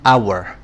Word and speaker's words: hour: ملحوظات مهمة: ان بتيجي لما الكلمة بتبدأ بصوت متحرك، مش شرط حرف متحرك، زي an hour مش بننطق حرف ال H، لكن بنقول a hotel لأننا بننطق حرف ال H.